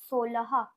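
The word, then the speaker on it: सोलह: ওকার ল আর হ, আর উচ্চারণ করবো সোলহা, সোলহা। এখানে কিন্তু লয় আকার হয় আকার নেই, কিন্তু আমরা বলেছি যে অ এর উচ্চারণ সবসময় আকারের মতো হবে। হিন্দিতে যে অকারগুলো আছে সেগুলো সব আকার হয়, সেই জন্য আমরা বলবো সোলাহা।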